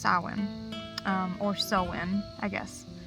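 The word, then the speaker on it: Samhain: God that was named sawwin it is spelled like this but it is pronounced Sawan or so in I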